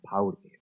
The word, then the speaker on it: 바울: 이 사울이 변하여 바울이 되는 것은 아니고요. 히브리식 발음이 이 사울이고 이 헬라식 발음이 바울이에요.